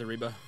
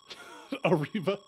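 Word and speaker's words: arriba: my only word is ariba a reba please there's two r's say it right okay well i can't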